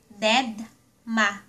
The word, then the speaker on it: dedma: Dead ma Deadma/Dedma or being ignored.